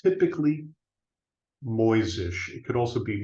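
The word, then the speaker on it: Mojzsis: European spelling it's typically moisish it could also be moisish depending on whether or not you know Hungarian or or Slavic languages uh or even German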